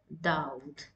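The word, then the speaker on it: داود: here in the word Daud. So whenever it comes beside a letter, that means you need to prolong the sound of waw.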